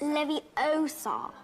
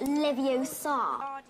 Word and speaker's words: Leviosa: of iron besides you're saying it wrong it's Leviosa not Livio saw you do if you're so clever oh